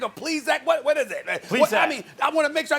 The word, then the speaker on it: Plesac: Plesac, is that how you pronounce his name? Plesac or Plesac? What is it? Plesac.